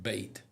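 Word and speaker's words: BHATE: It's I think it's pronounced bait. The H is silent.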